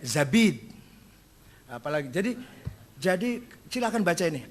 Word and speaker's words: Zabid: Az-Zabidi bukan Zubaid, Zabid.